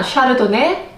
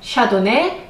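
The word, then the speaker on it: Chardonnay: 이에요 발음 하게 따라 샤르도네 샤도네 샷 어메이 이렇게 다양하게 표현할 수 있기 때문에 모두 동일한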